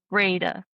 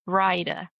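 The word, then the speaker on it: Brayda: And so that started something and then he said something about Jeppe being of the related to the Tortora Brada clan or it's actually it's pronounced Brida.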